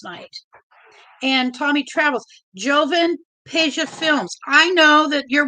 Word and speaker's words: Peja: Peja, P-E. That's the reason I remember the name. Peja. I don't know if I'm pronouncing it right.